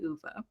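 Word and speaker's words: Ove: and I was like, "Okay, yes, it is Uva."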